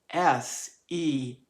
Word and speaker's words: Semele: and a mortal woman, her name is spelled S-E-M-E-L-E, and Semele is one of the ways that I found to pronounce her name, a traditional name.